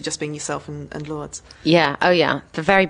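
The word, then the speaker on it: Lourdes: okay yeah and um is it Lords or lordes I never know how to say it lordes is well that's the pronunciation of her baptismal name but we call her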